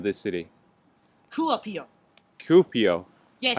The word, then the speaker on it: Kuopio: city cool up here cupio yes I've been saying it wrong thank you I thought it was coffee over it's cupio copio yes two up here fantastic thank you thank